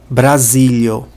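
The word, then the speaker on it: Brazilo: si só uma sílaba outro exemplo brasilo a sílaba tônica cai sobre o porque a letra io não representa uma sílaba por si só se eu não soubesse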